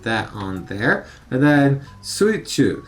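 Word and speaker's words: 水中: Sui is one of the ways that you pronounce the water kanji. Also mizu as well. Chu is one of the ways that you pronounce the middle kanji. Also naka.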